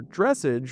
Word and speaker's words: dressage: If you're not familiar, dressage, or I think it's pronounced dressage technically, is basically fancy horse dancing.